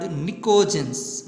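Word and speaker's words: Pnictogens: Next, these are also called nicogens. Nicogens, here P is silent.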